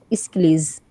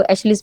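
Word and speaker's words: Aeschylus: वाले हैं, that is इस्किलीज। कुछ लोग इसको एशलिस भी पढ़ते हैं, तो दैट इज रॉन्ग प्रोनाउंसिएशन। इस्किलीज इसका प्रोनाउंसिएशन है।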